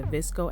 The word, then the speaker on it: VSCO: For this video I'll be using the Visco app. It's spelled VSCO.